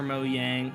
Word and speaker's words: Mojang: Mojang or Mo Yang? It's Mojang, bro. I I swear even the devs of Mojang or the the the devs call it Mojang a lot because that's just the American way to pronounce it.